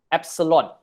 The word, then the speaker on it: epsilon: is this e okay e this is called epsilon okay the is i think from the greek